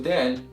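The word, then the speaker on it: دال: So Dal is an alveolar letter, which means a sound comes from the tip of the tongue being pressed against the alveolar ridge, the area right behind the upper front teeth, while the back end of the tongue is relaxed, which means it is not elevated or raised.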